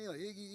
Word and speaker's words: Eagle: The name Iggy is a light-hearted nod to the New England pronunciation of Eagle. If anybody is here from there, can you do that for me? Iggy Eagle.